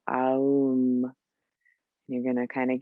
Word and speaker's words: Aum: And we'll do 3 ohms, but I want to enunciate each of the syllables. The ah, oo, So aum.